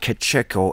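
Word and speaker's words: κατέχω: Withholdeth and letteth are the same word in the Greek, and it is pronounced kacheko. It's a verb.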